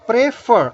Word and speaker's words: prefer: Like another one, prefer. Again, the two syllabic word, but the stress is on the last syllable.